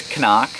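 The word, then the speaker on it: CNOC: weapon on the website how to pronounce it it's Nazi knock its Kanak and it comes from an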